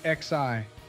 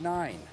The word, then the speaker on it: IX: I thought this map was called XI. No, Joe, you dummy, it's pronounced 9.